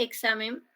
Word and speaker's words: examen: examen también por ejemplo ese examen está sonando así ex sa Así suena Pues por eso es que así se representa fonológicamente examen porque está esa x que normalmente se escribe está sonando como ks examen entonces cuando hablamos